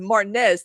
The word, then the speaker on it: Martinez: It's spelled like Martinez, but we pronounce it Martinez to sound pretentious. Not R just R. I don't know. But we're like a classic Georgia accent. You can say Martinez.